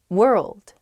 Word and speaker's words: world: express myself more clearly world world ah i see why this one's hard world world hard to pronounce that rld i think uh together is tough plus that w at the beginning as well it's such